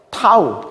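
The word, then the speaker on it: τ: 자, 이거 뭐라고 읽는다 그랬죠? 타우.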